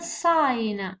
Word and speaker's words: sign: It's a silent letter. Next word sign.